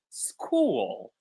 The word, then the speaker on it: school: Fatima actually thought about an even easier word, which is school. I didn't even think about this one actually. School is a word where CH is pronounced as K.